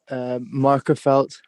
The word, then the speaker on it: Magherafelt: Markerfeld. How do you spell it?